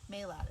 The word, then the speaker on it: Maylat: Maylat is how you pronounce her name.